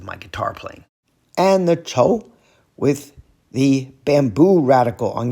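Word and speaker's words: 臭: The final review character is chou, fourth tone, stinky, woo!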